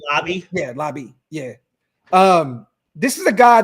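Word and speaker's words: Laube: Lobby? Is that how you say Lobby? Yeah, Lobby.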